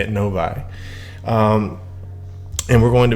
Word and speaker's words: Novi: Novi.